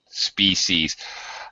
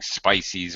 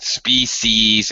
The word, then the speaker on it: species: space right that's it species I also know you always have to print out a common mistake is to pronounce it like spices or whatever but species and another common mistake